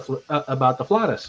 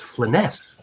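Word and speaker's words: Flanaess: The Flatus. Like, no, it's Flaness. And it's like I'm being corrected by Luke freaking Gygax about the pronunciation of something that I've named my entire social media thing about. So Luke said it was what now? So it's Flaness. It's Flaness.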